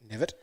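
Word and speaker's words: Knevitt: reckon now um mitchell nevitt nevitt silent k 240 yeah i nearly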